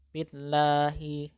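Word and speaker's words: بِاللّٰهِ: Maka cara membacanya harus tarqiq atau tipis. Billahi, billahi gitu. Dan tidak boleh tebal, tidak boleh billahi, billahi, itu tidak boleh karena itu tebal. Jadi harus dibaca tipis.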